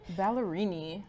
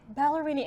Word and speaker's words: Ballerini: How do you say her last name? Ballerini. Ballerini.